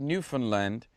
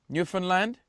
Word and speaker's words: Newfoundland: rage of the Canadians, because when I played Newfoundland, I don't even know whether I'm saying that right now. Anyway, yes, it is. Newfoundland?